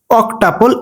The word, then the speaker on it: অক্টাপল: tuple seven যদি আটটা আর্ট একসাথে থাকে সেটার প্রোনাউন্সিয়েশন করতে হবে অক্টাপল এইট ও সি অক টি ইউ পিএল অক্টাপল